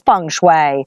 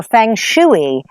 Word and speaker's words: feng shui: thinking about what is Fung Shui or Feng shooey as the Americans say anyway you do you